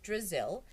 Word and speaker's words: Drizzle: Brazil rhymes with Drizzle. I thought it might help you remember my name."